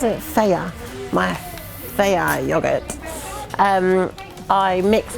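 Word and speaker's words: Fage: So with my, how did Luke pronounce it? Faya.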